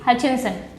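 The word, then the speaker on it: Hutchinson: हचिंसन। ठीक है, T silent है, लेट मी टेल यू, पहले से बता दे रही हूँ। अब कोई हचिंसन मत पढ़ देना मेरे सामने, ठीक है?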